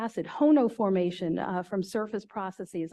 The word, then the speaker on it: HONO: whatever you want to they they spell it differently they like to say hono it's fun to say